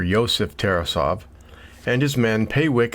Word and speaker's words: Iosef Tarasov: arrogant Russian mob prints I think it's pronounced iosef Tarasov or Yosef Tarasov and his men pay